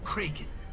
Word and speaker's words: Kraken: great somebody unleashed the Kraken kren it is pronounced kren kren unleash the Kagan